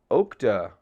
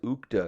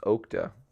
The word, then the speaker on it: Okta: No, that's Ukta. That's two O's. Ukta. I think this is pronounced Okta.